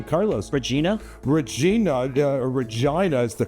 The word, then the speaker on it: Regina: Regina is the correct pronunciation, actually. Its Latin name means queen, and Regina is the correct answer, or Regina.